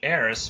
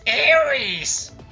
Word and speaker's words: Eris: before saying Eris, but a lot of people are going to be like, it's Ares! Sorry, I'm French, and the way we pronounce it in French is Ares. The E is just a different sound, so I prefer saying Eris. It just sounds way more natural to me, and just overall better, let's be real.